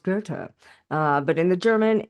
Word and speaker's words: Goethe: So you wouldn't be like, oh yeah, obviously that's pronounced Goethe.